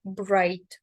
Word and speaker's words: bright: тут є одна орфограма буквосполучення GH буквосполучення jh не читається але попередня перед ним голосна називається так як в алфавіті тому читаємо слово Bright так далі В нас